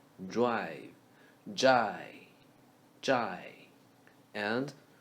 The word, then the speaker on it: 债: 债务 Zhai is drive without R and V sound. Drive. Jai.